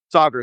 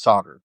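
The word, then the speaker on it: Saagar: Is Sagar how you say his name or Sagar? Which is it? Sagar. Sometimes I mispronounce it when I'm in the moment, but it's Sagar.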